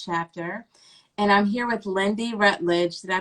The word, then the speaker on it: Lyndy Rutledge: craft mid state chapter and i'm here with lindy rutledge did i pronounce that right yes okay creator of firefly